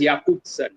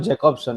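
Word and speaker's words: Jakobson: had two important probably like romantic probably yeah pronounced as yakuza yakuza it's not jacobson it's yakuza it's pronounced as yakuza okay yeah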